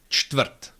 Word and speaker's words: čtvrt: Čtvrt, čtvrt, that's quarter.